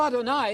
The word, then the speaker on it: Adonai: You know Adonai, it rhymes with El Shaddai, El Shad.